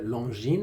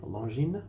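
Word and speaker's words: Longines: group as well but the French say long gene defenders to the no it's not a it's a very soft G pronunciation pronunciation long gene no it's a TS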